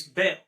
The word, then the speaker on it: Baal: But if you actually look in the original meaning that bell for bell zebub is spelled b a a l as well. It's bell. So Baal is the first syllable of Bale Zebub.